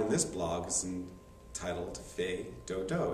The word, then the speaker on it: Fais: So in the printed French, you will see Fais is spelled F-A-I-S. That is pronounced Fais. You do not pronounce the S.